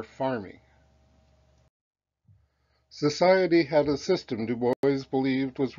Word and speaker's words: Du Bois: georgia shared in w.e.b du bois's gold medal win under the eiffel tower his name is pronounced american style like do boys he was born in